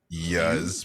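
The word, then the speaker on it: Iuz: like what's a yes it's pronounced i you z so i i would say yes probably yeah which sounds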